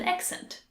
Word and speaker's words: accent: confuses me so much you have to say axe to pronounce it correctly act and if you